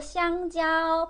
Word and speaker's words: 香蕉: 바나나는 기니까 길게 일성으로 香蕉. 바나나 길어서 香蕉, 香蕉. 길게 하세요.